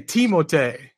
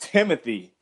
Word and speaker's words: Timothé: That's what they say, Timothé. In the pronunciation, the official pronunciation. For real? I thought it was just Timothy.